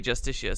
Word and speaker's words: Justitia: listening in the series the NPCs do pronounce it just assure they do in game they actually do say Justitia so I don't know